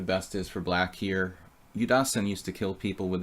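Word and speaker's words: Yudasin: is for black here you Dawson used to kill people with this with wait you Dawson against like or you die zine if we want to pronounce it correctly Leonid used to like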